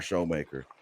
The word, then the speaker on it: Shoemaker: he was first AR showmaker spelled Shoemaker pronounced showmaker he was our our